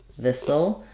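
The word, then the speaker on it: this'll: fine this will be we do contract it to thisle which sounds like um thisle um like missile thisle this will be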